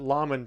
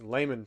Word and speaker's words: layman: people try to say it's not llon terms it's layman terms right layman terms I